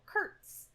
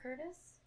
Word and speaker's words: Kurtz: Morgan Freeman's character Colonel Kurtz k-u-r-t-z it's not Curtis in the book his